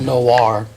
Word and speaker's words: Noir: Oh, so Noir it's is noir. French. Okay, yeah. I know. I thought I just wasn't sure. Well, it's French for black. The one thing I love about Noir is that it falls